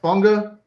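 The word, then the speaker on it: Fuaga: Oh, Funga. Yeah, he that's how you pronounce it.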